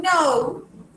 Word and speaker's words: know: Esa palabra que tú escribiste, I know, significa yo sé. I know, ¿ok? No se pronuncia la K.